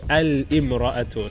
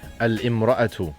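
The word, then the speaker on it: الامرأة: And definite, you introduce the al, it will be al-imra'atu. So you pronounce the lam, it means the woman. Al-imra'atu.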